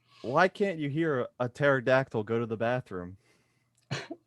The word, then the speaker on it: pterodactyl: can't you hear a pterodactyl go to the bathroom i don't know q why can't you hear it do you know i don't know because the p is silent oh my god that's